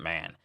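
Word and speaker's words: 万: which means all creation the Chinese character for Bon can also be pronounced man or man so when Shinra calls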